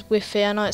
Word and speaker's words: Wify: And my name on YouTube is called Wify142, but some people call it Wi-Fi or stuff like that, but I just pronounce it as Wify.